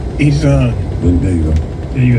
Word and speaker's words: Iran: You roll the R a little bit. Iran.